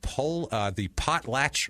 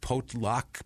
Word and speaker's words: Potlatch: Yeah, I was looking at it too, like, oh, maybe it's like an Indian word, and then I'm like, no, it's potlatch. That's what it is. At first, I'm like potluck, and then I'm like, I'm looking way too deep into this. Why am I trying so hard? This is potlatch.